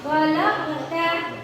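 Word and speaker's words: خَلَقْتَ: Nah, di huruf qaf sukun itu suaranya mantul. Qalqala ya. Qalqala apa? Kalau di tengah-tengah kata qalqala ya. Jadi kita bacanya khalaqta.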